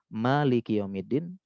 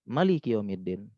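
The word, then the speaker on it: مالك يوم الدين: manya ada yang pendek, jadi Malik yaumiddin ini ada dua cara baca. Maliki Yaumiddin. Yang kedua, Maliki Yaumiddin. Satunya panjang, ma-nya satunya pendek. Dua-duanya boleh. Memang ada dua cara baca.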